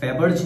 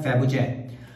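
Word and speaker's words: Fabergé: बाय a company call फैबर्ज। उसमें लिखा होता है उसका करेक्ट प्रोनाउंसिएशन होता है फैबुजे।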